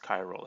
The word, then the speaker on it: chiral: see this word chiral this is pronounced chiral it that CH it has a cut sound not a CH uh ok so chiral